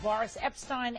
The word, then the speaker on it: Boris Epshteyn: I'm back with Boris Epshteyn and Erica Payne.